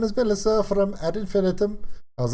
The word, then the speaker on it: Ad Infinitum: I've said all kinds of different ways, but it is confirmed the way to pronounce it is ad infinitum.